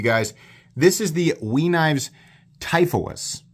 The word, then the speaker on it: Typhoeus: This is the WE Typhoeus, which apparently is how you pronounce that. I thought it was Typhus or Typhoeus or something.